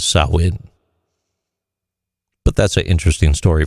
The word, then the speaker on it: Samhain: especially during the Celtic festival of Samhain, otherwise pronounced as Samhain.